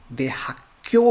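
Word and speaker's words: 대학교: इसका प्रोनाउंसिएशन दे हाक्यो बोलना है। क्यों थोड़ा सा टेंस्ड होगा यहाँ पे, क्योंकि ये का और ये खा मिलके एक का बन जाएगा, स्ट्रेस्ड थोड़ा सा।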